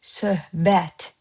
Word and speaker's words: söhbət: See how I pronounce söhbət? I don't say söhbət. I say söhbət. See, b turns its counterpart of consonant is b, p.